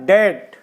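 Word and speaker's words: debt: पहले बी आए तो जब टी से पहले बी आता है तो वहां बी साइलेंट हो जाता है देखिए कैसे हमने लिखा है डेट अब यहां टी से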